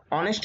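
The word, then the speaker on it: honest: অনেস্ট man Nazmul একজন সৎ ব্যক্তি এখানে এই অনেস্ট শব্দটি এইচ দ্বারা গঠন করা হয়েছে কিন্তু এইচ এর উচ্চারণটা হর মত হয় নাই এজন্য এন ব্যবহার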